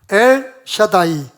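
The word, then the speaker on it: אל שדי: 이 단어가 뜻이 뭐냐면요, 발음을 해보겠습니다. L 해보세요. 시작. L. 이렇게 쓰는 게 맞을 것 같아요. 샤다이. 자, 엘 샤다이.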